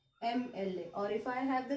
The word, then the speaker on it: MLA: If I have the word MLA, he is the MLA or MLA.